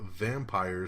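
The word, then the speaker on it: Vampyr: Fox 21 TV Studios and McGee's Wonderland is set to develop a vampire series adaptation, and vampire is spelled V-A-M-P-Y-R. That's right. Vampire.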